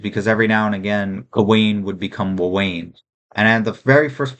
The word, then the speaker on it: Gawain: Uh I've heard people say uh Gawain as well and Gowan instead of Gawain. I say Gawain just because I'm saying it phonetically and I like the way it sounds.